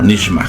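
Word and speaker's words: נשמה: Pero aquí están dos cosas, la palabra Nefesh y aquí está la palabra Neshma. Aquí Neshma, que se pronuncia como Nishma Haim.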